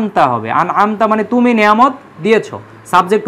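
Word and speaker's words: أَنْعَمْتَ: দিয়েছো তুমি নেয়ামত দিয়েছো কেউ যদি আমতার পরিবর্তে আনআতু পড়ে তাহলে সেটা শিরক হয়ে যাবে কারণ আনআমতু মানে তখন হয়ে যাবে আমি সাবজেক্ট যে আমি নিয়ামত দিছি তখন শিরক হয়ে যাবে এজন্য আনআমতা খেয়াল রাখতে হবে যে এটা হচ্ছে আনআমতা অর্থাৎ একটু হরকতের একটু চেঞ্জ হলে কিন্তু শব্দ চেঞ্জ অর্থ চেঞ্জ হয়ে যাবে তাহলে আনআমতা যাদেরকে তুমি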